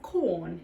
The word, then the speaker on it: Quorn: this takes us to the little town of corn in South Australia if you're like me you